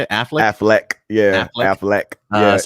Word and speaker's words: Affleck: Affleck.